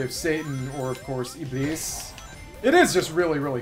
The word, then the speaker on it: Iblis: named known as Iblis, or I guess more correctly pronounced Iblis, because it's actually Arabic and, see, it's easy to die.